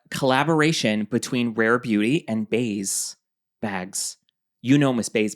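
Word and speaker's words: BÉIS: And then uh collaboration between Rare Beauty and Baze Bags.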